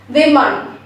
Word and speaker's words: women: You have to round your lips. It's we. We. And rest of the part is same as I told you. M-U-H-N. W-I-M-U-H-N. So both the syllables together it's women. Women.